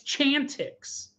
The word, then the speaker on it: Chantix: or whatever reason like it's clearly it's Chantix it's Chantix you look at the word it is clear there is not an R ins it's not even